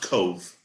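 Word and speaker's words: Cobh: so it is pronounced cove it's it's written c-o-b-h but it's pronounced cove c-o-v-e it's like the irish pronunciation all right very cool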